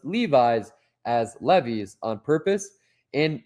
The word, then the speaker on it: Levi's: It's pronounced like how you say it. I know that because my name's Levi. It's Levi's.